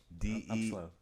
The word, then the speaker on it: Delapreme: Delapreme. Yep. That's for you, bro. Like Supreme. Yeah. Almost. But De La Preme.